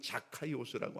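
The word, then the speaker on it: Zacchaeus: 우선 삭개오의 이름을 우리가 정확히 알아야 되는데 정확한 발음으로는 자카 스라고 합니다이 뜻은 깨끗한 자 의로운 자 이런 뜻입니다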